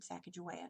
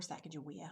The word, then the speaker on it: Sacagawea: who or what journeyed Sacagawea that's it we're Sacagawea I've heard it pronounced both ways Sacagawea journeyed westward westward